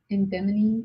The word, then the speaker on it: edamame: And And those are like edamame? No. edamame. Edamame. Yes. That's how you pronounce it.